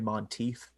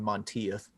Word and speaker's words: Monteith: by the name of jimmy monteith and i mispronounce his name i call him montieth and that just grates